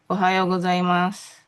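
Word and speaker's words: おはようございます: Ohayo Gzaimas.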